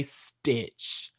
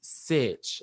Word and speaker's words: Sitch: Make sure you don't say Stitch. It's Sitch, like situation, like that.